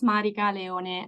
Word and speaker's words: Marica Leone: to be here and so as said you pronounced very correctly my name is Marik Leon I come originally from Italy at the moment